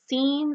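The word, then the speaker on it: scene: सो सीन, सेंटेड, सेप्टर and scissors में आई ई वाई की मौजूदगी जब होती है एस सी अल्फाबेट के साथ तो सी वुड बी silent.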